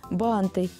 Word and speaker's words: банты: Похожие слова, в которых часто делают ошибки, это шарфы, банты, порты, лифты. В них также во всех формах ударение всегда ставится на первый слог.